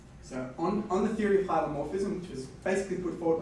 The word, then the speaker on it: hylomorphism: It's not hypermorphism, it's hylomorphism.